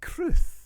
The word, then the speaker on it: crwth: How would you think you would spell it, Tom? A cruth.